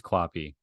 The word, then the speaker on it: QAPI: within organizations for over 15 years what is copy copy which is pronounced as it's listed there on the screen